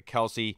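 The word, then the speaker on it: Kelce: freak of nature you know apparently it's not Kelsey they uh you know they have a podcast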